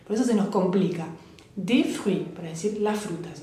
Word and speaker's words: des: ejemplo, des fruits, D-E-S, acuérdense que la S final no la pronuncio, entonces es como que la acentúo la E, D, como la letra D, de fruits, frutas, como un poco en inglés, de fruits.